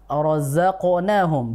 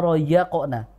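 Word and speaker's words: رزقناهم: ibu Sar Jim perhatikan di rozaqna ya di huruf zainnya terbaca ya tadi wimma rozaqnahum bukan wimma roqna ya kan begitu ya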